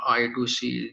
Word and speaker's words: I2C: we say like uh pronounce in the way like i squared c or i to see these are the two